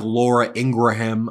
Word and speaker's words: Ingraham: So here's like Laura Ingraham in an interview with Fox.